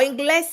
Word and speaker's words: inglés: Now, inglés has an accent on the E, Ashani.